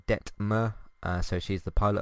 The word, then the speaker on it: Detmer: by the way her i've been trying to work out how exactly to pronounce her name and i've been saying denver and uh det ver or whatever it's uh detmer uh so she's the